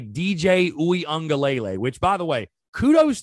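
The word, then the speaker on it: Uiagalelei: going to point to quarterback and say dj uengalele which by the way kudos to me and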